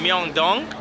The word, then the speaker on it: Myeongdong: Estoy en Myeongdong. He tenido que preguntarle a una persona cómo se pronunciaba para no decirlo mal.